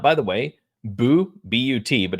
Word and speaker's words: But: it's all prospects against prospects but you know but still I don't know if people know this or not by the way bu buut but it's pronounced bu is French for goal